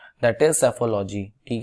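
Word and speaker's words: psephology: Newspaper में, that is सेफोलॉजी। ठीक है, इसको पी साइलेंट होता है इसमें, सेफोलॉजी, लॉजी मीन्स स्टडी होता है, इस बात को याद रखिएगा।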